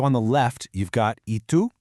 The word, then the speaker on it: y tú: Okay, so on the left, you've got y tú, that's pronounced y tú, and it just means and you.